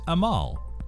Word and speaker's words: Amal: Fun fact, the word hope in Arabic is Amal. To pronounce it correctly, think of George Clooney's wife, Amal Clooney. It's literally the same name.